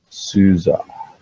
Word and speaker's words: SUSE: And as a matter of fact, it's actually pronounced SUSE.